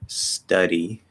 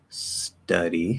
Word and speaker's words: study: study so okay so it's at the start of a syllable star is stressed so the d is not and it's between two vowels so that checks all the boxes for a flap study study then you